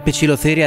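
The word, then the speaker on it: Poecilotheria: vedete in sottofondo e Sì questo è il modo corretto di pronunciare il nome in latino di questo ragno cerchiamo di normalizzare la pronuncia Latina Vi prego i dittonghi a e e o e in latino si pronunciano e alcune tarantole però sono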